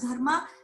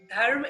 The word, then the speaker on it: dharma: In Pali language, dharma is pronounced as Dhamma, Dhamma.